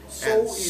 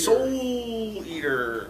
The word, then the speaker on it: Soul Eater: Soul And Eater. Soul Eater, which is not actually how you say it, from Yen Press, volume 7.